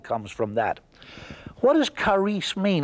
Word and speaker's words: charis: is a Greek word, charis, C-H-A-R-I-S. Now, the Greeks don't say it like that. They drop the C and they say charis. And charis, or we English speakers, we would say charis.